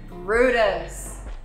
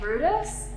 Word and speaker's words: Bryde's: a little bit funny even though it looks like brides with a y we pronounce it as brutus can you say brutus the haraki gulf is